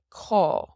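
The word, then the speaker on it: cá: So it has an A father here, and this A father makes an aw sound, AW, aw, because it's long. So caw. So definitely like how the bird says caw, you can think of that one, and that is where in Irish.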